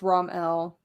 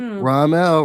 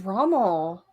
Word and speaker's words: Ramel: me oh oh no ghost says it's ramel yep ramel ramel i thought it was rommel oh now the whole